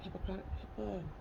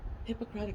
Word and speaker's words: Hippocratic: that they take that Hippocratic how do you say that hypocrite dang it Hippocratic Oath can I say that right yes they take that oh